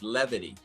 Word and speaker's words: levity: Yes, it's levity. Is it levity? It's you know levity. how long I've known it's levity? I don't like it like that. Lividity. Yeah, that's the Lividity. West Indian pronunciation.